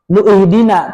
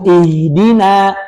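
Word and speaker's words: اهدنا: Jadi kalau kita baca nyambung iyaka na'budu wa iyaka nastain nuhdina nuhdina kan gitu. Enggak dibaca nu ihdina. Makanya disebut hamzah wasal. Hamzah yang dilewati ketika kita membacanya disambung. Tapi karena kita biasa berhenti, nastain berhenti, maka kemudian memulai dari kata baru, maka dikasih harakat kasrah.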